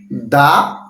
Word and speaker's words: the: যেহেতু এই পি এর পূর্বে টি এইচই আছে তার মানে তার উচ্চারণ হবে দা পেন।